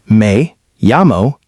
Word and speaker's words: me llamo: Pronunciation may yamo.